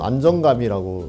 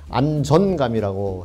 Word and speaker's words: 안전감: 발음 있게 주의 깊게 하지 않다 보면 안정감이라고 나가는 경우가 되게 많거든요. 근데 안전감이라고 해야 맞고요.